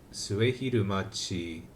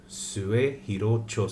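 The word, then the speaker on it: 末広町: There's a particular station name, so this is potentially mispronouncing this station name. Let's find out using Google. Suehirocho Station. So more specifically, where is Suehirocho Station? Open. Suehirocho Station.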